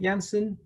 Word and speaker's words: Janssen: research pipeline and he's currently working at janssen is that how you pronounce it janssen yeah that's perfect awesome okay terrific and